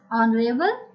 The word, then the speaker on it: honorable: Article N is also used where H is silent. For example, an honest man. We don't use the word sound H, honest. We say honest, not honest. Same it is honorable, not honorable.